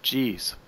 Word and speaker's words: Geez: She told me you pronounce that Geez.